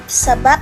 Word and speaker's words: sebab: Misalnya, kata lalap, sebab, adab. Dalam bahasa Indonesia itu akan kita ucapkan dengan menggunakan akhiran P. Kalau misalnya kita mendengarkan dengan baik-baik itu akan berakhiran huruf P seperti lalap, sebab, adab.